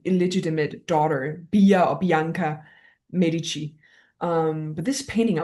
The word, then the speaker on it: Medici: And the, you know, the Medici family. Yeah. Hope I pronounced right. Medi Medici.